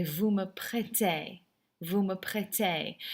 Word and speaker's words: prêtez: Vous me prêtez. Never pronounce that Z, by the way.